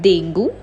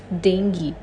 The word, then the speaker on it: dengue: monk it's Monk it's not Dengue it's Dengue and lastly it's not